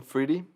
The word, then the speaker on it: Friede: Oh, Friede.